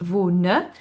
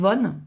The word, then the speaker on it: wohne: Donc, première personne, ich wohne. Et attention, on le prononce bien, le e. Hein. C'est pas ich wohne, c'est ich wohne. Hein, le E se prononce, toutes les lettres se prononcent en allemand.